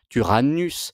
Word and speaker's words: Tyrannus: Tyrannus, Y se prononce normalement U, vient du grec, c'est le tyran.